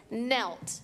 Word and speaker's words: knelt: Sorry, that has a silent K at the beginning, like the word kneel.